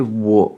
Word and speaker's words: 我: Donc wo, troisième ton, on avait parlé du troisième ton qui descend et qui remonte, un petit peu comme s'il y avait une double voyelle, wo, comme s'il y avait deux O, et un W qui se prononce comme un W en français dans wagon, western, etc.